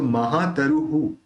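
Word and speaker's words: महातरुः: अब ये जो विसर्ग है उसका हु निकलेगा, क्योंकि यहाँ पे विसर्ग के अंदर जो रू है उसके अंदर र और उ मिला हुआ है लास्ट में, तो अपन ह के साथ उ मिला के हु करेंगे उसका उच्चारण।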